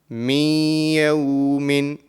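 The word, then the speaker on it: من يوم: And when we are joining the mim into the ya mushaddad, the nasal sound will be produced. So the correct pronunciation of this will be min yawmin.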